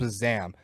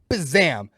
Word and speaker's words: BZAM: in the city called Bazam. Bazam. That's BZAM or BZAM, depending on where you're from and how you like to pronounce that letter.